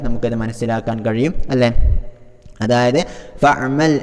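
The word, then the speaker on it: فاعمل: ഇദാ അലിംത ഫഅമൽ ബിഇൽമിക ഇഅമൽ ബിഇൽമിക എന്നുള്ള രണ്ട് ഉദാഹരണങ്ങൾ ഒന്ന് നോക്കിയാൽ നമുക്കത് മനസ്സിലാക്കാൻ കഴിയും, അല്ലേ? അതായത് ഫഅമൽ എന്നുള്ളിടത്ത് നമ്മൾ ആ ഹംസയെ ഉച്ചരിക്കാൻ പാടില്ല, ഫഇഅമൽ എന്ന് പറയാൻ പാടില്ല, മറിച്ച് ഫഅമൽ എന്ന് മാത്രമേ പറയാവൂ.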